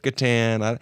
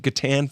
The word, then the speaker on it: Catan: It's spelled C-A-T-A-N. Well, if the C was a soft C, it would be Satan.